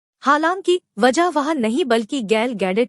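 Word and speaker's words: Gal Gadot: ही देखनी है हालांकि वजह वहां नहीं बल्कि गाल गैडोट थी जो वंडर वूमेन की तरह आर्स से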